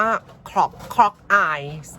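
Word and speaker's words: Clogau: ไม่ ได้ นะ ฮะ เขา อ่าน ว่า ขอบ เคาะ กาย คอร์ป อาย นะ เอ่อ เป็น ภาษา เวลส์ นะ คะ เพาะ กาย เป็น ชื่อ ของ เหมืองทอง คะ ที่ ประเทศ เวลส์ อี ป่า เนี่ย เซอร์ไพรส์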